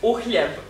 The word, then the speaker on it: uhljeb: Is it a J? Oh yeah. So you pronounce it Uhljeb.